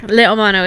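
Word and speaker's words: leiomano: This one I actually pronounced correctly. Okay. Le Omano.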